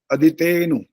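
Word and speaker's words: अदितेऽनु: ठीक है, अदिते के बाद अनु भी नहीं बोलना, ये भी ध्यान रखना होता है। अदितेनु ऐसा बोलना होता है। अवग्रह है वो, उसको बोलना नहीं है, उसका उच्चारण अब जब अलग अलग करेंगे तब बोलेंगे उसे।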